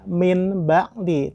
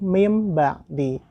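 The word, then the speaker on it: مِنْ بَعْدِ: Maka tidak dibaca dengan min ba'di, tetapi mim ba'di.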